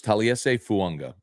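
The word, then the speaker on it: Taliese Fuaga: So I think Fuanga, and he did pronounce his name, so it's Taliese Fuanga is the tackle out of Oregon State they drafted.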